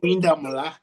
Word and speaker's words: Oyindamola: Oyindamola, is that right? If I say it right? Yeah, yeah. Oyindamola.